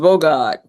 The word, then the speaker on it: Bogart: Pronounced Bogart, B-O-G-O-D.